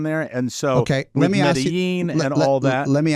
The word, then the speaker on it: Medellín: Medellín. Oh, Medellín. Okay. Medellín. Like Ibiza. Yes. Not Ibiza. The Castilian pronunciation. Medellín.